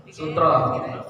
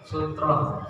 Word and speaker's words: sutrah: Sutroh. Iya. Ini tuh apa artinya sutroh? Batas, halang, ya. Bukan kain sutra, bukan. Kalau kain sutra itu bahasa Indonesia, ini bahasa apa? Bahasa Arab lain. Sutroh, pakai rok, bacanya sutroh.